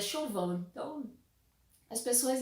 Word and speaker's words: Siobhan: Se vocês já viram como se escreve o nome dela, é tipo Sibiohan, Sibiohan, se a gente fosse falar assim do jeito que a gente lê normalmente, né? Mas é Chauvin, então as pessoas e seus nomes, né?